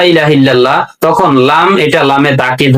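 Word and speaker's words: إلا الله: ইল্লাল্লাহ বলে ইল্লাল্লাহ। লাম মোটা হবে। আল্লাহ শব্দের ডানে জবর এবং পেশ থাকলে লাম মোটা করে পড়তে হয়।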